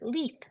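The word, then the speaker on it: Leith: our friend from Ireland LEF is how we pronounce this MX l e i t h it's leth like Keith but Le says if he fills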